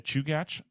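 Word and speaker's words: Chugach: but um the Russian river is in the chugat National Forest I'll spell that for you so it's c h u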